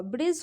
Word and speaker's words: bridge: जैसे कि BRIG क्या हुआ, ब्रिज हो गया, डी यहाँ पे साइलेंट हो गया, BRIDGE, डी को साइलेंट कीजिए, ऐसे पढ़िए तो ब्रिज होता है, यही आपका करेक्ट प्रोनाउंसिएशन होगा।